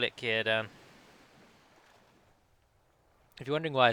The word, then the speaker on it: Círdan: Let's just call it Círdan. If you're wondering why I say Círdan and not either Círdan or Círdan, is because a C is always pronounced as a hard K in Sindarin, and the accent over